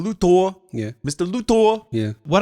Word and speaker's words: Luthor: It's actually pronounced Mr. Luthor.